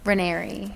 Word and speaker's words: Raineri: say your last name renery it's like canary but with an r okay that's good to